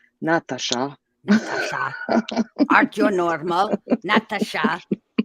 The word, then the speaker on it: Natasha: It just irks me because one of the A's is pronounced as an E, like Natasha, Oh, It just yes.